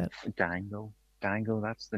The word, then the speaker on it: dango: Dango.